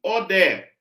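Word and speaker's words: ᾠδή: que eu pronuncio aqui como que eu pronuncio Odé Odé eu não vou ler esse I que tá aqui porque eu teria que ler Oi não dá para ler isso aqui esse iota na pronúncia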